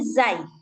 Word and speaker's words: zai: Nah, bacanya kayak huruf Z. Kayak huruf Z orang Indonesia. Khinzi zi zi. E bukan khinji. Khinji. Enggak enggak gitu dia bacanya tapi zai.